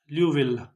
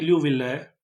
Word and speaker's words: Liouville: ल्यूविल, इसे ल्यूविले भी पढ़ते हैं, हिंदी में ल्यूविले ये लोग इसे पढ़ते हैं, हिंदी मतलब इंडियन रीजन में। पर ये ल्यूविल है, इसका प्रोनाउंसिएशन, फ्रेंच मैथमेटिशियन का नाम है ल्यूविल।